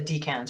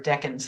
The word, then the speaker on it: decans: is this orientation to the decans or decans, however we want to pronounce it. Mm. I And like to say deacons deacons, 'cause okay. it sounds like deacon of a church.